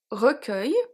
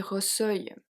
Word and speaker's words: recueil: And recueil will be the same thing. It will be resseuil.